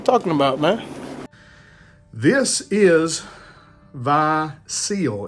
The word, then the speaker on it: Vie Ciel: about man this is V seal is how you pronounce this I did take French